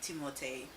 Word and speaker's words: Timothée: So I guess the proper way to say his name would be Timothée.